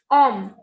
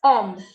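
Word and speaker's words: homme: First is om. H is silent. As I told you, we don't pronounce this H. And whenever E is at the end, it has no sound. So this is om, meaning is man.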